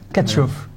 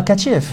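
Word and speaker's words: Tkachiev: Katchoff. Katchoff. Qui est Katchoff? C'est un Vladislav Katchev. Ah, Katchev. Katchev. Ah, Katchev. Pardon, j'ai prononcé à la rue.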